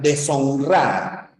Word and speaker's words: deshonrar: cabeza tendrán no deshonrar pero la sh no existe en nuestra lengua si tienes la palabra